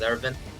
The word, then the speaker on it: Erwin: Well, sorry, I do pronounce it Erwin because of the English dub. That's how they pronounce it, as Erwin.